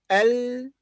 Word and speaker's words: اليوم: Al-yawm. اليوم. اليوم. The lam here is also pronounced.